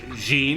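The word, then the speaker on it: 人: That can be pronounced Jin, like in Gaijin. Or it could be pronounced Hito, as if you're speaking of a singular person or a man or a woman, like Otoko no Hito or Onna no Hito. But still say English is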